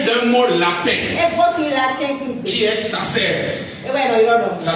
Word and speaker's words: sacer: Alors le mot sacré, étymologiquement, vient d'un mot latin qui est sacer. Ça s'écrit S-A-C-E-R.